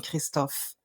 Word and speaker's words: Christophe: Welcome, Christophe. Thank you. I love the way you pronounce my name. I saw you made some effort to pronounce it the French way.